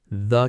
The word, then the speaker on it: the: This tiny word actually has two pronunciations, and knowing when to use each one makes your English sound much more natural. Before a word that starts with a consonant sound, you say the cat, the book, the car.